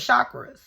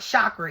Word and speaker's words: chakra: All of y'all should know about your chakras. And it's not chakra, it's chakra. That's another thing. I had to catch myself because I said it wrong.